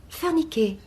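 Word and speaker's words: Furniker: Par curiosité, comment le prononcez-vous? Oh, comme ça s'appelle. F-U-R-N-I-K-E-R. Ah, Furniquet. Furniqué.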